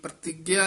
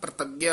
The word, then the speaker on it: प्रतिज्ञा: जन को प्रतिज्ञा आई प्रतिज्ञा नहीं कहना प्रतिज्ञा उच्चारण करना है एकादशी व्रत रहे हाज